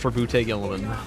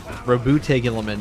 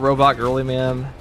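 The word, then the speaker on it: Roboute Guilliman: What's a proper say to say ra is raboute gilman. Rabute gilman. Not robot girly man.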